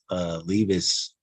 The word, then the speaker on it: Levis: What was the big deal about Levis? Levis? Is that how you say his name? Yeah, Will Levis.